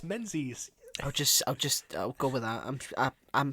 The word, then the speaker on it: Menzies: Tobias No, it's Menzies. not Tobias Mingus, it's Tobias Menzies.